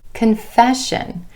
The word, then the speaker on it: confession: Confession. Again, emphasis on that E vowel sound in the syllable right before the SION ending.